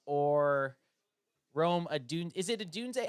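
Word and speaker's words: Odunze: Is it Adunze? How do you say it? Rome Adunze? Adunze? Adunze.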